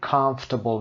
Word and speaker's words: comfortable: comfortable ما می نویسیم ولی comfortable می خونیم.